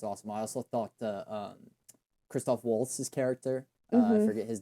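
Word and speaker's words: Christoph Waltz: It's Kristoff Waltz.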